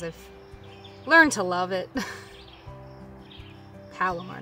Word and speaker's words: Palomar: I, by chance, I'm just using the Palmer knot because I've learned to love it. Palomar knot, I believe, sorry, improperly pronounced.